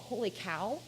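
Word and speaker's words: Holy Kaw: It's called Holy Cow, but it's spelled K-A-W.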